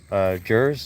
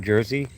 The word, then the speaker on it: Jers: Jers, it's pronounced like Jersey, just like the state, New Jersey. But it's a EY, or, you know, instead of EY, it's a Z. So you say Jers, like you would say Jersey.